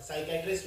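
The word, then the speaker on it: psychiatrist: psychology पढ़ना है जो साइकैटरिस्ट होता है और साइकैटरिस्ट में ये सबसे आम स्पेलिंग है जो एग्जाम में आई है क्योंकि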